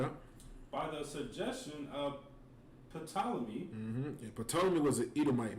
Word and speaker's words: Ptolemy: It's about the Roman kings and the Greek kings, and it has Ptolemy in there, and it tells you who he is, and you know what I'm saying. Ptolemy is spelled Ptolemee.